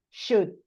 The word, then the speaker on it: should: Lo que te quiero decir es que en estas palabras la L nunca se pronuncia. Entonces directamente y la O tampoco. Entonces vos decís could, would, should. It's always the same.